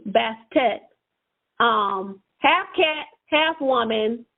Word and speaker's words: Bastet: is half cat and that's pronounced and it's it's spelled b a s t a t bastet um half cat half woman or half and